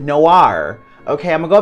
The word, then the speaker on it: Noir: Noir? Nowhere? Nowhere? Nowhere? I know how to say it. I'm not tripping. I know how to say it. Noir.